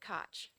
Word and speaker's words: Koch: some people pronounce it Coke some people pronounce it Koch what's your preferred pronunciation I pronounce it Koch Koch okay thank you I